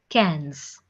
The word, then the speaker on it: quinze: 15 is pronounced as quinze.